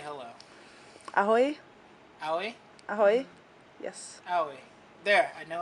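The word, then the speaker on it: ahoj: Ahoy?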